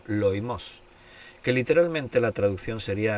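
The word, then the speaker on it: λοιμός: Bien, la palabra pestilencias o pestes en el griego es la palabra loimos o loimos, porque tiene el acento en lao, loimos, que literalmente la traducción sería enfermedad o plaga.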